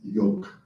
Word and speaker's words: Yoke: has kindly explained that her nickname is Yoke, which rhymes with Coke.